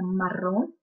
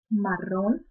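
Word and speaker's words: marrón: э коричневый - это Марон Марон также чётко произносите двойное ры потому что в испанском она очень такая чёткая фиолетовый - это биота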